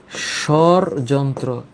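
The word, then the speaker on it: স্বরযন্ত্র: তাইলে এইটার সঠিক উচ্চারণ হচ্ছে সরযন্ত্র।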